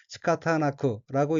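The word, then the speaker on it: 仕方なく: 다음 어휘는 한자가 사방이고 각기 섬길사 모방자이고 일본어로는 시카타나크라고 읽으며 시카타나크는 할 수 없다,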